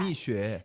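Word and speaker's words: Mixue: How do you pronounce that? Mishu. Mishu.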